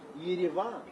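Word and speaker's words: Yerevan: The capital of Armenia is Geravan or Yavan if you want to pronounce it a little bit closer to Armenian or even Russian because those are the two main languages spoken in Armenia.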